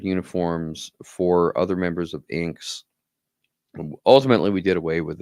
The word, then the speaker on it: INKKS: The organization is called International Neoclassical Karate Kabuto Society, INKKS, or as we pronounce it, INKS, INKKS.